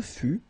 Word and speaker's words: fus: Final S is not pronounced.